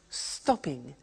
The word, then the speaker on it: stopping: becomes stop stopping now notice that in English pronunciation when there is a double consonant we don't hear it in the pronounciation so for example we don't say stop ping or swimming okay not like other languages so the pronunciation stays